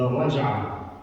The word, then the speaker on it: Raj'ah: And this act of taking her back is called in Arabic the Raj'ah. And you can spell that in English as R-A-J-A-H.